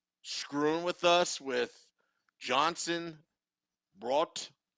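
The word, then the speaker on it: Bratt: to jesper brat like how do you take b-r-a-t-t and get brought out of that i just i that doesn't make sense so at least they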